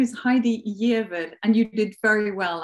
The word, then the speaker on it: Giaever: my name is Heidi yid and you did very well actually Cynthia my name is not that easy to pronounce the reason I have this name is entirely my father's fault he is Norwegian I am Norwegian um